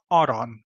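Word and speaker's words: arany: is pronounced Zod and gold which is pronounced Aron so these words that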